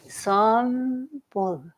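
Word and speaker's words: Sambul: you the Buddhist name Sam-bul. Sam-bul. Yeah, and you pronounce it like a B and a P almost together. Sam-bul.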